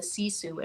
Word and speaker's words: Sisu: And so the word you can't pronounce is actually Sisu. It's Sisu.